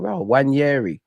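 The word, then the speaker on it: Nwaneri: be honest, I'd always shy away from saying Wanyeri. I'd always say Ethan. Like, pronunciations is not my strong point. But one of you spell it in a way I'm like, wow, Wanyeri.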